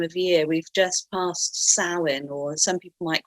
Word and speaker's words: Samhain: We've just passed Samhain, or some people might call it Samhain, but it's pronounced Samhain, which would be the Celtic end of the old year, beginning of the new year.